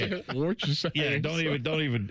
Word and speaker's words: Worcestershire: Worcestershire. Yeah, don't even. It's wash your sister sauce. I've heard people call it that.